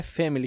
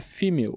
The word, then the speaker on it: female: Não é family que se pronuncia, é female mesmo, né?